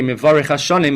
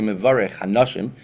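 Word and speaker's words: מברך השנים: and he would say Mevarech Hashanim, he would mispronounce it, and would say Mevarech Hanashim, Hashem who blesses a woman, and that brought down tremendous brachas for that city.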